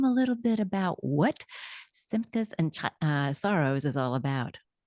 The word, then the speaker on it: Simchas: brand new, fun movie entitled, I hope I pronounced this correctly, Simchas and Sorrows.